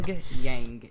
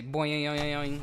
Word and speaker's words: Pyongyang: Pyongyang is it, but I like to say boing, and I like to say it wrong because it's funny.